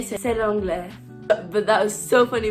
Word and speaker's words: c'est l'anglais: And I was like, "C'est anglais, c'est anglais." So I didn't pronounce it correctly. I was supposed to say "c'est l'anglais."